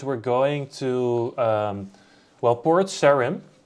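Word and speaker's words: Port Sarim: going to um well port sharim or Serene I don't know I've always got it Port Serene but um I'm Dutch you know so it's a just a way for us to pronounce it let's grab those coins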